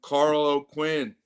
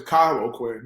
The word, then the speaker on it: Kyle O'Quinn: for the program and Carl O'Quinn. Awesome run there with his Spartan career. Yeah. Well, first thing is, I'm not, he'll get mad if you say his name is Kyle O'Quinn, not Carl.